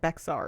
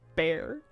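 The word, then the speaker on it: Bexar: you pronounce it like Beexar. It's apparently pronounced Bear.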